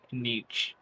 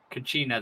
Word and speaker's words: Kachina: I forgot how you pronounced her name. Cause I know it's a K, but I keep hearing Kanich. Kachina? Kachina, there you go.